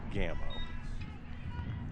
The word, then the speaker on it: Gammo: It's Gammo. Gammo. Like Camo. Gammo. Well, we apologize to her and her family. Yeah. Selena Gammo.